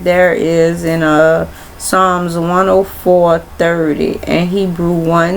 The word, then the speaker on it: Psalms: Oh y'all palms really h I don't know why I keep thinking poems is like poem but it's songs the p is silent.